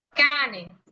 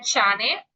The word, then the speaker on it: cane: Me dicen Miss, pero si dice chi, ¿por qué aquí sería cane? ¿No sería chane? Y no. ¿Por qué? Porque la C, como les comentaba en la sesión pasada, tiene dos tipos de sonidos principales.